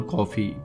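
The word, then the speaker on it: Coffey: वो बोलता है जॉन कॉफी, पीने वाली कॉफी, लेकिन स्पेलिंग अलग है।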